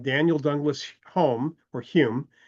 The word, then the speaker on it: Home: Daniel Douglas Holm or Hume is the actual pronunciation of his name spelled home h o m e in the in the